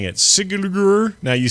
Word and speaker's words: Sigurður: And I will leave the pronunciation of the artist who's creating this monument to you, Breki. Yeah, say that. Sigurður Guðmundsson.